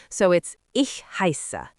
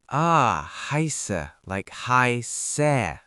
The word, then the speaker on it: heiße: like a capital B, is actually pronounced like a sharp SS sound, like the SS in kiss. So it's ich heiße. Can you try it again, really emphasizing that SS sound? Heiße, like heiße.